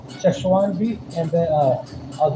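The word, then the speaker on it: Szechuan: Cheshwan. Cheshuan beef.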